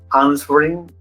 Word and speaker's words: answering: He tried to avoid answering my question. Question. En answering, la W es muda, ¿verdad? No se pronuncia. Answering.